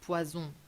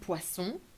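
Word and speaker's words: poisson: pork for example or very careful with the pronunciation of e e e open the snake sound nasal sound not P very common mistake pison means poison and Pon means fish it's better for you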